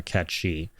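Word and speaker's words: Cait Sith: will absolutely acknowledge that the original name from The Language uh is yeah it's pronounced uh catchi but as for the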